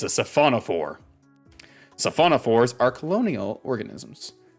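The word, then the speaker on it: siphonophore: sail is not jellyfish at all it's a syphonophore that's the pronunciation I'm going with and that's the pronunciation everyone should be going with and you need to do it in that voice it's a safona for saona fores are Colonial organisms made up of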